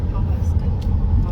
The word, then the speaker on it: Pawhuska: Alright guys, well thanks for joining us on this tour of Pawhuska. Is that how you said it? Pawhuska. Yes, Pawhuska. Anyway, however it's pronounced.